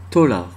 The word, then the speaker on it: thaler: Thaler se prononce tolar. Eh oui, thaler, tolar.